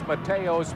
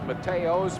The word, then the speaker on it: Mateos: the first half carlos matteos will kick off for air force i mispronounced his name earlier it is mateos from colorado springs colorado